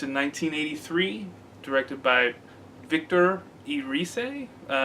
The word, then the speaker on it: Erice: Spanish film, released in 1983, directed by Victor Erice, spelled with an E, and then it's like E. Rice.